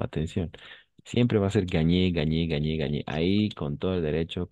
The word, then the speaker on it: gagné: Siempre va a ser gagné, gagné, gagné, gagné. Ahí con todo el derecho, con toda la seguridad, pues vamos a pronunciar gagné, la E al final también porque está acentuada, si nos damos cuenta, ¿no?